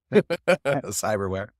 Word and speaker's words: Psyberware: yeah, it's spelled pretty funny. It's PSY for where. Cyberware.